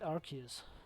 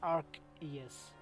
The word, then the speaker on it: Arceus: because of its design I I never liked Arceus I guess it's pronounced Arc yes not Arceus Arceus it was officially confirmed by